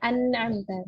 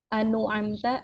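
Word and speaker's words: أنعمت: Jadi dibacanya an'amta sehingga dia akan nanti maknanya itu ya akan sempurna gitu. Kalau misalnya kita ubah ini jadi anu amta atau ana amta, kita rubah harokatnya itu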